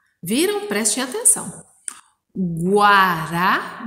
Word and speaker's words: guará: por exemplo, a palavra guará. Viram? Prestem atenção. Guará, dá para ouvir o som da letra U, inclusive quando a gente